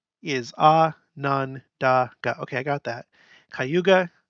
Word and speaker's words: Cayuga: okay I got that kayuga Ka Yuka Howden Howden nasauni ho